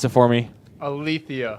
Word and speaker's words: Alethia: Pronounce it for me. Alethia. Alethia.